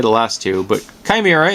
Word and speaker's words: Chimera: the last two but kimira is how you say the first one and it's from Safari